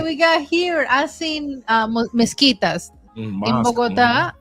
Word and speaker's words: mezquitas: I seen mezquitas in Mosque. Bogotá it's and mezquitas? mezquitas That's en how you pronounce español. it? Wow. Mezquitas, like you say, mosquito.